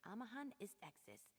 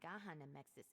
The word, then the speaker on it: Amahan Istexis: It's Amahan Istexis, not Gahan Amexis is.